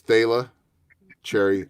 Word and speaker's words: Thalia Cherry: again let's let's make sure we get the pronunciation right I did get it right it's Tayla cherry I know you don't know I've been up